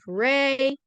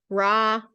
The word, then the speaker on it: Ra: Thou shalt drink water off the altar of Re, or Ra. Apparently, depending on the time period that you were in, the pronunciation was one of those two.